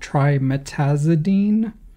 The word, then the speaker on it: trimetazidine: So if you're an English speaker, where do you put the emphasis?